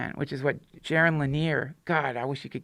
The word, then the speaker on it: Jaron Lanier: Jaron Lanier. Jaron Lanier.